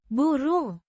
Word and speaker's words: burung: Buru means bird pronounced buru with a short o sound like in book and a soft ng sound at the end similar to the ng in sing.